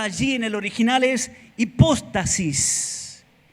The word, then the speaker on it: hipóstasis: La palabra certeza allí en el original es hipóstasis. Hipóstasis, acento en la O. Hipóstasis. Certeza, hipóstasis. Diga hipóstasis. No es apóstata, ¿eh?